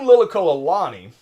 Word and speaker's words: Liliuokalani: Queen Liliuokalani, all right, and I am pronouncing that one right.